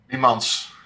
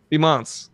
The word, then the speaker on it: Biemans: Biemans. Biemans. So you have to pronounce the S. Yeah. Biemans.